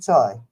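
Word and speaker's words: çay: Turkish tea is called chai, Cay, and they pronounce it chai.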